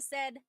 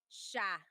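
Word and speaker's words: siya: But the s i y combination that makes a sh sound.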